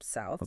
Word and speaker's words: south: You actually have to stick your tongue out a little bit, place the tip of your your right between your upper and lower front teeth, and just push air out. Sirp, south.